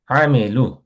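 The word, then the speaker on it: عمل: আমেলু, আমল শব্দটা আমরা বাংলায় বলি আমল করা, রাইট? ইমান আমল, এগুলো আমরা বাংলায় খুব ইউজ করি। সো এখানে আমল শব্দটা আরবিকে হচ্ছে আইন দিয়ে উচ্চারণ করতে হয়, এটা হচ্ছে আমেল।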